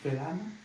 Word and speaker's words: Felana: On dit pas Felana, on dit Felana.